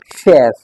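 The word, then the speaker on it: chef: Not this not चीफ। This is शेफ।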